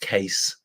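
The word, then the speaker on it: Kees: I know it says Keys, but it's pronounced Case.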